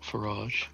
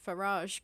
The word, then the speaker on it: Farage: Garage rhymes with farage. Farage rhymes with garage. What's farage? Farage. As in Nigel Farage, the fascist.